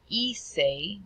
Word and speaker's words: hice: And then our last one, hacer, will turn into hice. Remember the H is silent.